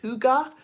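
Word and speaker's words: hygge: I'm saying it the way that says to pronounce it hyga who got I got five of these and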